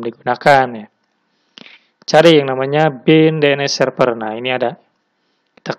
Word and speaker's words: BIND: terkenal adalah yang namanya bin Bain ya kalau dibacanya bind Nah sekarang saya akan menjelaskan Bagaimana caranya instalasi